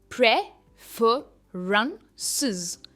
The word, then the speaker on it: preferences: सबसे पहला है प्रेफरेंसेस. प्रेफरेंसेस. प्रे पर इसका स्ट्रेस है, प्रेफरेंसेस.